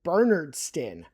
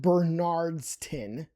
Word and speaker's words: Bernardston: So, this one up north, that is Bernardston, not Bernard.